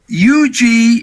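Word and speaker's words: Yuji: let's let's go to Russo for the correct pronunciation ye Yugi Nagata so goo taunts Nagata with slaps to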